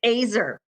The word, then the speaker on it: Oeser: pronounce your last name you pronounce it AER like a r so it's like all right so like so almost like Fraser but AER exactly very good it's